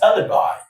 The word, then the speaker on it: alibi: And number four is alibi. Alibi. Ali. Ali by. Three syllables.